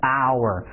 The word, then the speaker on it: hour: 哎，是这个词的音标 hour，那么它这个首字母是 h，但是 h 没发音，所以我